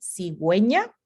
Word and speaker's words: cigüeña: se llaman diéresis y si la uv tiene diéresis si se pronuncia y también se transcribe entonces la palabra aquí cigüeña como vamos a ver